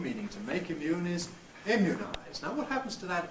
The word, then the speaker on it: immunize: it's really much like the vowel of good for some people immunize but other people have it rather tenser than the vow of good immunize it's really likely end of thank you others again may go all the way to schwar and say imize but I don't really feel that's a mainstream at the moment so that's another place